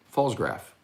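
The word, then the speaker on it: Pfalzgraf: thank you uh yes that's p-f-a-l-z-g-r-a-f that's pretty easy silent p um falls graph yeah i think that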